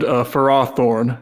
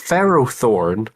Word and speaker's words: Ferrothorn: really held it's not really natural to pronounce it that way. I cannot defend farthorn which they also throw out there. That's just wrong. No, it's it's it's Ferrothorn.